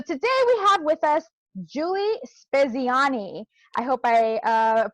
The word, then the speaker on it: Giulie Speziani: So today we have with us Giulie Speziani. I hope I pronounced that correctly.